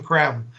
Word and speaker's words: Creme: his last name is spelled c-r-e-m-e creme it's pronounced kram Benjamin KREM and so that's what I've been doing is